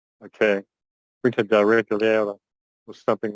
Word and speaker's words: Quinta da Regaleira: Can you pronounce it properly? Quinta da Regaleira. Okay. Quinta da Regaleira or something like that.